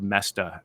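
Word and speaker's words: Moesta: who take notes mestas it's hard to spell pronounce this it's it it's m-o-e-s-t-a it's actually not hard to spell because the spelling doesn't look like the pronunciation Bob messed up I've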